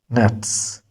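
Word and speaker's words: Netz: Nets be careful Z in English but in German this gives the voice of set.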